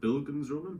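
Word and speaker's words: Bildungsroman: it reads like uh i'm gonna butcher the pronunciation bill gonz roman is how you say it like coming of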